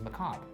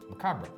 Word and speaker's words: macabre: about whether you pronounce the r, macabre.